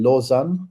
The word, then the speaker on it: Lausanne: That was really at the master, and yeah, that was in Lausanne. That's the right pronunciation, Sunny.